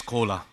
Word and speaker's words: Cola: Just on the stage another collaboration is coming because my name is Cola. Everybody can understand this is exactly same pronunciation of Coca-Cola.